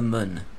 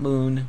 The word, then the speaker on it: Mun: This time we're gonna concentrate on getting to the moon. Yes, it's pronounced moon, not moon, but moon. M-U-N with a little rabbit face or whatever, eyes over the U there.